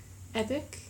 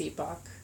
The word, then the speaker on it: epoch: Is that how you say it? Epic? But like spelled differently? No, I think it's Epoch.